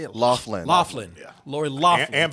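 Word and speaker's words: Loughlin: Laughlin.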